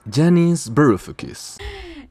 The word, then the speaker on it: Yanis Varoufakis: La pronunciación del autor es Janis Berfis.